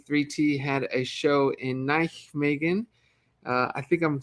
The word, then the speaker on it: Nijmegen: Yeah, I said Nijmegen, right?